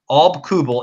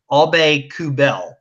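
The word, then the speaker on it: Aubé-Kubel: it right it's people you say up Alba Kubel it's obey coup bail that's nice yeah we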